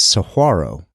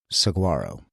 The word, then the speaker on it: Saguaro: of videos about it it appears the proper pronunciation is Saro as opposed to Saguaro Saro is a Mexican Spanish word that doesn't appear